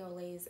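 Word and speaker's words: au lait: that's like the typical name like there's cafe olay's everywhere cafe olay my wife has an a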